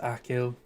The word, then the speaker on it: Achill: Pronounced Achill.